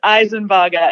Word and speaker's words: Isenbarger: spell my name correctly so how are we pronouncing your name for the record it is eisenburger and it's a bit of adjustment from me